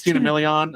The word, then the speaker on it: Christina Milian: It was Christina Milian, I believe is how you pronounce her name, is singer Linda Moon.